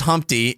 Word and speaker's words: Humpty: It's pronounced My name is Humpty. It's pronounced with an umpty. Yeah. Come over here. I'd like to because if it was an umloud, it would be pronounced with an oompty.